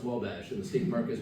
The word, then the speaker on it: Wabash: My worst one is Uwabiche, which was a French attempt by English people to write down the French pronunciation Wabash. And as far as I know, the state park has given up on telling people, no, it's just pronounced Wabash.